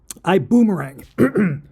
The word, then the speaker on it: iBuumerang: over both 's and I don't know how you pronounce that and I don't speak German it would be iang or something like that I Boomerang is the way it's pronounced I'm going to give